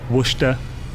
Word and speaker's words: Worcester: So basically, the way you say it is Worcester or Worcester.